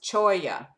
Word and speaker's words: cholla: So, for example, cholla, pronounced cholla, it's C-H-O-L-L-A, a stickery cactus native to the Sonoran Desert.